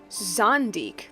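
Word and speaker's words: Zandik: Zondik, that's how you say it.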